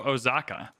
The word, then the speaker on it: Osaka: to pronounce this I I used to go with Osaka but then I watched Shogun incredible show if you haven't watched Shogun they go oaka is more how they pronounce it and I have a funny feeling they're more correct than I am Kyoto is down we're